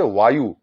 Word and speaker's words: বায়ু: যেমন বায়ু প্রথম ব দিয়ে নয়, দ্বিতীয় ব দিয়ে, সেজন্য বায়ুর উচ্চারণ হচ্ছে ওয়ায়ু, সেখানে একটা ওয়ার মতো একটা ভাব আছে, ওয়ায়ু।